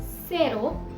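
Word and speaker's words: cero: जहां पर से ए के पहले था यानी कि सेरो, उसमें से का प्रोनाउंसिएशन स है।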